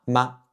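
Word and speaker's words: 吗: question la ma, la ma. Donc ça veut dire est-ce que c'est épicé? La ma, la ma. Le dernier caractère de cette petite phrase se prononce avec le ton neutre.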